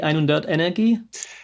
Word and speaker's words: EINHUNDERT Energie: So, Ernesto, tell me, you are the founder of, do I pronounce it correctly, EINHUNDERT Energie? Exactly. So EINHUNDERT as the number 100, EINHUNDERT, and then it's Energie.